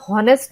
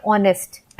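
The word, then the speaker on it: honest: से तो यहां पे हम हॉनरी या होनेस्ट नहीं बोलते हम बोलते हैं ऑनेस्ट है ना ऑनेस्ट की स्पेलिंग होती है एच ओ एन ई एस टी तो यहां पे एच जो है वो साइलेंट है हमें ऐसा लगता है कि हम ओ से स्टार्ट कर रहे हैं ऑनेस्ट बट ये स्टार्ट होता है एच से फिर बात करते हैं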